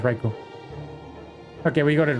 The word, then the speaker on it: Raikou: I mispronounced his name. It's Raikou.